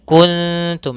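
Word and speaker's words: كُنْتُمْ: Wain kuntum waainku Kemudian pada lafal kuntum ada huruf nun mati bertemu dengan Ta sama Apabila ada huruf nun mati bertemu dengan Ta ini hukum bacaannya sama ketika bertemu dengan Kaf yaitu ikhfa karena huruf ikhfa ada 15 maka di sini juga kita baca dengan bacaan Ikhfa kemudian maka cara membacanya kuntum nah ini ikhfanya ikhfa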